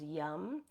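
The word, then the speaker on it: yam: use the seed sound yum it's spelled y a m but it's pronounced yum and this is a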